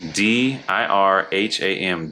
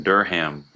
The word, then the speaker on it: dirham: The dirham is spelt D-I-R-H-A-M, dirham. I say dirham.